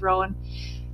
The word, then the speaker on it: Rowan: So her parents are Jack and Barbara Rowan, depending on where you looked for the pronunciation, but I'm going to pronounce it as Rowan.